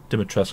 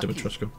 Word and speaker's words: Dimitrescu: Dimitrescu, that's how you pronounce it, not Dimitrescu.